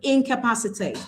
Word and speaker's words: incapacitate: So all I need to do is once again to syllabify, I have incapacitate. I have 5 syllables in the word incapacitate. So I count a 3rd from the end and I have 8 so it falls on pa.